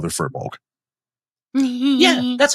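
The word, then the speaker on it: Firbolg: My favorite part of that story is the whole time Jim called her FEER-bolg. Yeah, that's how I pronounce it. That's how I've always pronounced it. FEER-bolg. Yeah. FEER-bolg.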